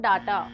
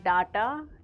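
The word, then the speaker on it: data: there is just no डाटा यू can upgrade your plan for more डाटा D eighty A इज नॉट डाटा इट्स डेटा डेटा for example I need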